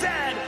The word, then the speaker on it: Z: A toque is a hat, a Chesterfield is a coach, and it is pronounced Zed, not Z-Z.